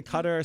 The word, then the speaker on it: Qatar: I flew back from South Africa to Malaysia Qatar yeah okay that's how you say it I say Qatar sometimes they say Kar sometimes they say qar whatever they use a